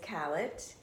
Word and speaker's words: Callett: Callett. It's not spelled like it sounds, but it rhymes with ballot and mallet.